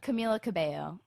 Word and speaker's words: Camila Cabello: Camilla Cabello, No. correct? Camila Cabello. Okay, Camilla Cabello. You Welcome to can my world.